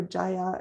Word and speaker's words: Jaya: I actually don't know if it's pronounced Jaya or Jaya. It's Jaya, but she's done a number of beautiful covers.